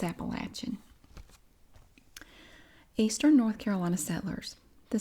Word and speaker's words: Appalachian: we do pronounce it Appalachian here if you pronounce it Appalachian we know you're not from here it's appalachin eastern North Carolina settlers the South faced political